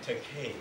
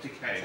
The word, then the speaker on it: Takei: I am Takei. Oh, Takei. Right, rhymes with okay.